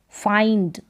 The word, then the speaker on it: find: फाइंड, FIND, इसको फाइंड करके पढ़ेंगे, जैसे फाइंड, काइंड, माइंड, तो इस तरीके की स्पेलिंग को आइंड, IND, आइंड इसका उच्चारण।